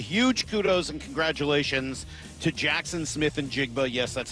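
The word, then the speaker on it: Jaxon Smith-Njigba: Huge kudos and congratulations to Jackson Smith and Jigba. Yes, that's how you pronounce his name.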